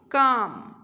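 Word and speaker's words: calm: काम, L is silent.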